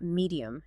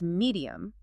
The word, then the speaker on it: medium: It's three distinct syllables, not medium, it's medium.